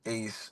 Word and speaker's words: Aaez: It's pronounced Ace. It's spelled A A E Z.